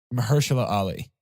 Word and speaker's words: Mahershala Ali: I believe it's Mahershala Ali.